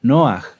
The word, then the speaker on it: Noaj: ¿Quién se acuerda cómo era la pronunciación correcta de Noaj? ¿Noaj? No, era Noaj, ¿verdad?